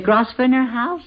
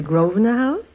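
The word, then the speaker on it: Grosvenor: say uh uh the grosner house sir shall we say it correctly and call it the groer house well I didn't stay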